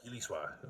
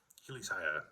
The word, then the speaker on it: Hilisaya: So because Hiliswa or Hilishwa, there's a couple ways of pronouncing medicine in the Muskogee language, but Hilisaya is basically how you pronounce medicine maker, is how it translates.